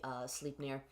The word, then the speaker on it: Sleipnir: Although still my favorite scene / image has to be, I'm gonna mispronounce this, the Sleipnir. Essentially, until I realized that it was supposed to be Sleipnir, the humanoid centaur.